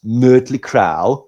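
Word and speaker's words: Mötley Crüe: So Mly Crew should if we're being technically correct should be pronounced Mley Cra.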